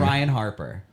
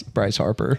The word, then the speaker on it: Bryce Harper: Ryan Harper. Is that right? I want to say you purposely said it wrong. Wait, what is it? It's Bryce. Bryce Harper. Bryce Harper, that's what it is.